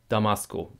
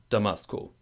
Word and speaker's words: Damasko: German guy would say Damasco, but the same rhythm, da-dub-dub, da-dub-dub, Damasco, Damasco, Damasco.